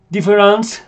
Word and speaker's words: différance: que son muy importantes tenemos difference que se pronuncia Exactamente igual pero como ven acá en el primer punto de esta presentación se escribe con al final con e n c e y lo que